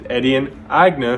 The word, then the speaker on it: Etienne Aigner: pronounce his name but his proper name is edian agna because his last name is german even the logo has